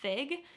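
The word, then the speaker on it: Figue: help you out number 28 is the brand fig and it's spelled f-i-g-u-e golly gee I want to find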